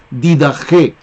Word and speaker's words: Didaché: Se escribe Didaché, pero allí la Che se pronuncia como J. Didaché.